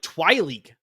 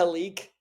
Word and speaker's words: Tyleek: No, you're saying like Twileek. Like you're adding a W in there. It was weird. I think it's a Tyleek. So it's something like that, yeah. But it's just Tyleek.